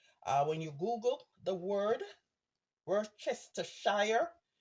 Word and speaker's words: Worcestershire: I say Worcestershire, right? When you Google the word Worcestershire, it's pronounced not like how it looks. So I say Worcestershire.